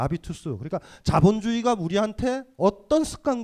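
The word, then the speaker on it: habitus: 습관 색각 전문용어가 되죠 불운은 h 가 묵음 이니까 아비투스 그러니까 자본주의가 우리한테 어떤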